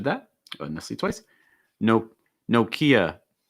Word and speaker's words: Nokia: oh nicely twice nope nokia nokia it's not nokia it's nokia i have a nokia phone okay it's like no strong o sound and then kia again it's just like ikea nokia okay after that